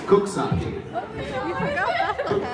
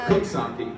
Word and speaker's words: Coxsackie: Cooksackie. Cooksackie. Cooksackie? Yes. Why don't they spell it C-O-O-K and then Sockie? I don't know. Like S-A-K-E?